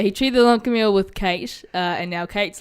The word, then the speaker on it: Kayte: It's spelled Kayte, so I think that's Kate, but just with a Y.